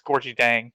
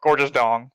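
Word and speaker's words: Gorgui Dieng: So I keep saying Jang, Gorgeous Dong, which is I don't think is his name. It's Gorgie Dang, but Gorgeous Dong. That's how you say his name.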